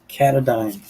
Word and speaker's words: Katadyn: i have this and it's pronounced katadyn now if i'm wrong put it in the comments but anyway this there you go k-a-t-a d-y-n and this is some